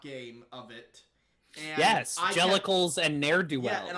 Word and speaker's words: Jellicle: And Yes, Jellicles and Ne'er-do-wells. Yeah, and I kept pronouncing it Jellicel or something like that.